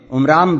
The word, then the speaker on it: عمران: موسیٰ علیہ السلام کے والد کا نام ان دونوں کتابوں میں عمرام بتایا گیا ہے۔ قرآن اسی کا تلفظ عمران کرتا ہے۔ موسیٰ علیہ السلام کی